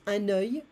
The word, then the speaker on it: œil: Particular cases, un œil, be careful of the pronunciation here. Un œil, one eye, des yeux, un œil, des yeux.